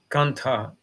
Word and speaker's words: kantha: And in the winter time, he has one thing to cover up it, like we can say blanket, but it is not correct. It is said like kantha.